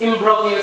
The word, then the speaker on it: imbroglio: Imbroglio? Sir? It's imbroglio, silent G.